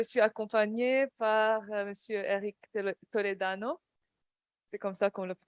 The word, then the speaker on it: Toledano: Et bien sûr, je suis accompagnée par Monsieur Eric Toledano. C'est comme ça qu'on le Tout prononce.